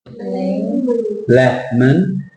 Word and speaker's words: lemon: Lemon. And which is the dominant? Lemon. Lemon. And the O becomes the schwa sound. It's the O schwa, lemon, not lemon. It's like melon, lemon.